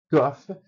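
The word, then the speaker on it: קוף: O cuff ele é pronunciado mais para trás como se fosse o Q de queijo.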